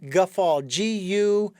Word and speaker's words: go fóill: I think it would be phonetically Guffaul. G-U-F-A-L. Guffaul.